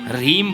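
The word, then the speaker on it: ह्रीं: मकार का उच्चारण होगा तो अनुस्वार के बाद में कुछ है नहीं तो आप उसको अम बोलेंगे रिंग नहीं बोलेंगे रीम बोलेंगे क्लिंग नहीं बोलेंगे क्लीम बोलेंगे अ यह व्याकरण का नियम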